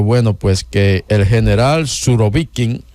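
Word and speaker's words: Surovikin: pues que el general surobikin o surobiquín el carnicero de Siria Sí la cosa ya se pronuncian con el acento atrás el general Armagedón como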